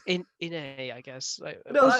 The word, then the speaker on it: Inej: Or if somebody comments down below flaming all of us for the wrong actually, pronunciation. it's Inai.